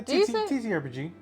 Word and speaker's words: TTRPG: Just had a 6-hour TTRPG. Is that how you say it? Do you say all those letters combined? Yeah, TTRPG. TTRPG?